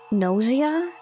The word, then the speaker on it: Gnosia: Do you know the game, Nausea? It's spelled like Gnosia.